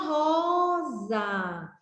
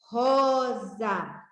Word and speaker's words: rosa: Olha só a rosa. Aqui é uma rosa. Como é que escreve rosa? Ro mais za, igual a rosa. Esse S aqui tem o som de Z, e é desta forma